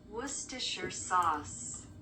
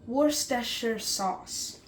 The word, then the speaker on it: Worcestershire: And just to prove that I am saying it correctly, Worcestershire sauce. Worcestershire sauce.